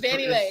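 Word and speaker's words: DaniLeigh: Is it Danny Lay or is it Danny Lee?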